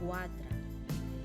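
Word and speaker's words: quatre: en la pronunciación fijaros el número cuat por mucho que escribamos cuatre vamos a decir cuatra y fijaros también que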